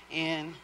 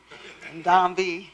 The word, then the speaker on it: N'Dambi: I phonetically spell it out. NDOMBEE. NDambi.